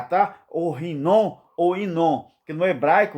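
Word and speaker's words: Hinom: Então você pronuncia Rinon ou Inon. Inon é num bom português. Agora, Rinon, né? Rinon. Você rasga a garganta como se fosse 2 R.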